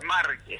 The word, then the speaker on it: Márquez: Márquez, es con acento en la A.